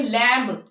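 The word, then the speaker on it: lamb: silent है इसके अलावा अगर बी जो है वो एम के बाद आए इधर एम के बाद है बी यहां पे इसको हम क्या पढ़ेंगे लैम अक्सर मैंने सुना है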